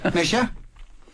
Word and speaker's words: Mischa: Mischa? What, my Gaelic? Yeah. Oh, no, that's not Gaelic. I was just like, it's Mischa. Very good, it's Mischa.